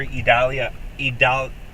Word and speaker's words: Idalia: to likely go after idalia three syllables tomorrow um I'm probably